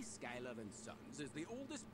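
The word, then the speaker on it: Schuyler: I guess I gotta say Skylar, because he's not the only one who says it. I strongly disagree about that being the pronunciation of that spelling, but here we are.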